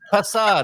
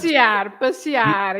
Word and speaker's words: passear: Oh no, that's pasar, isn't it? Do not iron your dogs. Passear. Yes, it's not pasar.